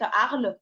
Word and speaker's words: Arles: Arles, ladies and gentlemen, one of the hardest cities for you to pronunciate, Arles. So this is mute, not Arles.